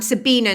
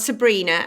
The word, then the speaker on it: Sabina: So sabinabrennan.ie is my website, and I'm Sabina, not Sabrina, and I can usually guess your age if it's because of the Teenage Witch or the original Charlie's Angels.